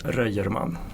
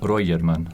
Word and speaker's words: Röjerman: Jonas Röjerman. Jonas Röjerman.